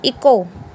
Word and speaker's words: echo: ECHO, इको, यहाँ पे क्या होगा, H साइलेंट रहेगा, इको।